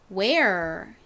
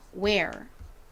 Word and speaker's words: wear: 우 소리 나는 W와 air 소리로 쓰인 EAR이 연결되니까 wear 이렇게 발음이 되죠. wear.